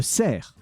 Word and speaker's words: cerf: But when you write the word for a deer, it's a cerf. You do not pronounce the F. And that specific C is pronounced like an S.